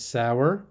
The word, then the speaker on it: sauer: So süß is sweet, bitter, and sour is how you pronounce that, and that is actually sour there.